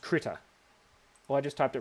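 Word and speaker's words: Krita: it in the chat it's it's pronounced critter oh I just typed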